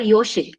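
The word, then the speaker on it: योषित्: There is a special name in Sanskrit by, it is pronounced this way. It's called Yoshit, Y-O-S-H-I-T-H.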